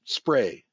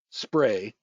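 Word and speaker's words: SPRY: company is ARS Fara the ticker is pronounced spray spray SP I r y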